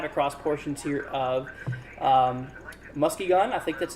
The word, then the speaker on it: Muskegon: four four five across portions here of um Muskie gun I think that's how you say that so your musk key again Muskegon okay I see you put a pronunciation here too so for you my friend